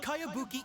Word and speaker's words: Kayabuki: name who's this cabanga it's pronounced kayabuki e that would be